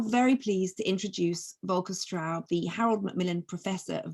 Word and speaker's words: Straub: make it clear that there was a typo because the stout in germany actually means dust and that's not my name anyway you pronounce it correctly straub so good evening everyone